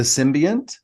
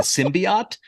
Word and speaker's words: symbiont: They said symbiote. That's not right. SYMBIOT. The symbiote. It's a symbiont, right?